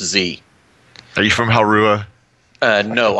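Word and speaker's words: Que: He's a monk, and his name's actually spelled Q-U-E, but it's pronounced Z.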